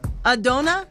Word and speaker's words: Adona: Adona? Yeah. I said it right? It's almost like I'm saying a donut.